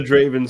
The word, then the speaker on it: Draven: I think it's Draven. Is an R in there, right? Draven. Yep. Drebin. Oh, it's like pure as the Draven Snow is my nickname.